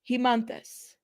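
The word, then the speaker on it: Haemanthus: Hemonthus. Hemonthus. That's what they're going to name the company. Hemonthus. It's an E. I don't like, this is how you pronounce it. Hemonthus.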